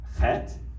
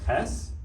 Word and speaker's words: chet: One of these is for the letter chet or ches. Now in modern Ashkenazi Hebrew, that is pronounced ch for Hanukkah or l'chaim, but the Rhineland communities pronounce this as like an aspirated H, so Hanukkah or l'chaim, or not even l'chai.